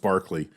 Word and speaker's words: Berkeley: were um manhattan transfer a nightingale sang in barkley square which is spelled berkeley but it's it's london so it's pronounced barkley uh i still get goosebumps every time i